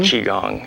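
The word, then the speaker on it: Qigong: did I say that right Tai Chi and quong chiong ch ch chiong and in Chinese for some reason they pronounce it Qi Chi chiong yeah Chong okay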